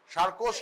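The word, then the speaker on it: Charcot: আছে সার্কোস্ট্রাট ঠিক আছে একটা টি আছে যেটা উচ্চারণ করে না ফরাসিরা মহা গোলমেলে জাত আর্ধেকের বেশি লেখে উচ্চারণ করে উচ্চারণ কিছুই করে না ওরা সার্কোস্ট ট্রায়ার একটা টি আছে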